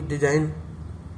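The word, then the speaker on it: design: जैसे और भी डिजाइन, इसमें भी जी साइलेंस वर्ड है।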